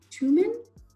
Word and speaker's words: Tuman: with us today julie twoman how do i pronounce your last name that is how you pronounce it and she is the